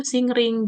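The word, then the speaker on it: 森林: Eh, nah ada yang hutan lebih lebat, yang pohonnya lebih banyak atau lebih luas itu singring. Jadi singring ini adalah perpaduan antara eh mori dan hayasi. Jadi dibacanya sing ring.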